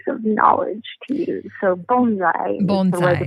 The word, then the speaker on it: bonsai: But the plant in a pot, you pronounce it like our bone, so bonsai.